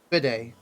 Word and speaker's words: bidet: bit admit it is bidet oh it's a it's one of those things you have to you don't you have to the the T is silent bidding I don't know